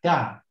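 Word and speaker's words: ت: You see exactly the same, but it's got two dots on the top. So this is a ta.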